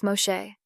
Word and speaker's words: Moshe: which sounds similar to the Hebrew pronunciation of Moses Moshe that explanation would have